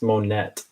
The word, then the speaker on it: Monet: and it's almost a Monet I'm sorry I pronounced that right it's monnet you can do it